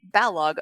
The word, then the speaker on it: Balogh: The A is short, the H best ignored. So it's like Balogh.